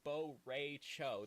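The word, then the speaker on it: Bo' Rai Cho: I will be training you there because I'm Bo Ray Cho. That's how he pronounces his name.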